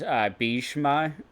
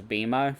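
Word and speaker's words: Bhishma: she was really wonderful she got me to pronounce a lot of names correctly like udish and bishma I thought it was beima for a while uh names like that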